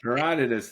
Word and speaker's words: Herodotus: I think his name he pronounced it Herodotus or Herodotus. I don't know. Heroditus, the the historian, the Greek historian.